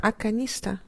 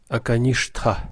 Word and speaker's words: Аканишта: Аканиста. Акаништха. Акаништха. Ну да, в принципе, по произношению санскрита в нашей традиции это Аканиста, да.